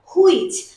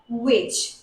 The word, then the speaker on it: which: প্রথমেই বলে রাখি এদের উচ্চারণে আমরা প্রচুর ভুল করি, আমরা বলি হয়ার হুইচ, তো এটা কিন্তু হয়ার না, এটা হুইচ না, এটা হচ্ছে where which, where which।